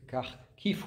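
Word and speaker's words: Kharkiv: en Ukraine je suis allé au nord de carkif ou kkovelon prononce car kif et je suis allé voir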